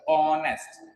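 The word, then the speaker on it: honest: तो इसमें भी समझ में आ गया क्यों आया एन ऑनेस्ट में, बोलो, क्योंकि इसका जब हम बोलेंगे तो एच साइलेंट है, और बोलेंगे कैसे, एच साइलेंट होगा तो ऑनेस्ट, ऑनेस्ट, ठीक है।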